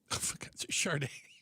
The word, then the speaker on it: Sade: It is not Sade. What is it? Chararda. Charard. Charard. Yes. Chararda.